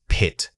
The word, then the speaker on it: pit: The word is pit. Say it again. Pit. When pronouncing this word, focus on the initial puff of air you generate. It must be a sharp immediate release from your lips.